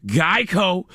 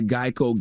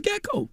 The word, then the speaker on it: GEICO: debuted his mascot the geico gecko and they chose the gecko because geico had often been mispronounced as gekko and boom martin the